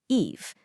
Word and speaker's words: Evie: Evie, which is pronounced Eve.